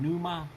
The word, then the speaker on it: pneuma: P-I-S-O, or possibly Agion Pneuma, which Pneuma with the silent P, which means the Holy Spirit, the Father, Son, and the Holy Spirit.